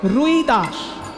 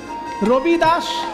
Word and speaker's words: রবিদাস: যিনি লিখেছেন বাবা তাকে বাঙালিরা বলে রুইদাস কিন্তু হিন্দি উচ্চারণে রুইদাস নয় হিন্দি উচ্চারণে রইদাস র হই আসলে সেটা হবে রবি রবি মানে সূর্য রবিদাস সূর্যদাস সেটা হিন্দি উচ্চারণে রবিদাস সেখদাস আর বাংলায় হয়ে গেছে রৈদাস। মুচে ছিলেন কিন্তু এমন রামায়ণ